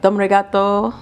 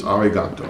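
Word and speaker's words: ありがとう: How do you say dom regato? No, we say Johnny. Johnny. Goodbye. But I said thank you, didn't I? Oh, thank you. It's arigato.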